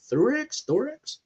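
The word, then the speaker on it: Theroux: Thorex, as Mr. House and Therox.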